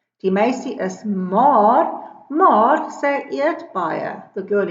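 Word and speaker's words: maer: Then I have another set of homophones, homofone, maar. Die een is maar to mean but, it has two A's. The other one is spelled differently, it is M-A-E-R, and that means you are thin.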